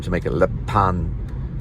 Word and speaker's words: Lappan: It's spelled Lappan. I made up the name, but it comes from Lappan, or Lappan, or Lippin, or Lappen.